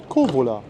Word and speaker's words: Kouvola: Kovola, das U spricht man nicht mit.